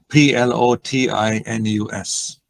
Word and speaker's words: Plotinus: I think I've been mispronouncing it all this time. And you said spell the name, please. It's Plotinus.